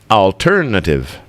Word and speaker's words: alternative: alternative yeah alternative the stress is on tour so alternative alternative Lily